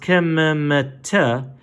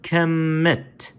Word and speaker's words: Kemet: Kim it is that though this is Kim this is not to be pronounced Kim - this is pronounced Kemet this is what we